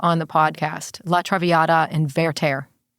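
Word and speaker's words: La traviata: beginning of the show was it's Ver's Latraviata Latraviata.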